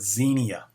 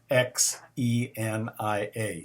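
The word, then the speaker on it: ξενία: is a need then there is the word xenia x e n i a xenia it means hospitality love of strangers guest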